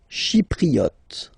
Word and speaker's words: Chypriote: Chypriote. Remember this Y is pronounced like I, okay?